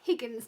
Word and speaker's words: Higgins: Higgins, mate, innit? Makes tea and coffee. It's Higgins, dear. There's an Higgins. There's an H at the beginning.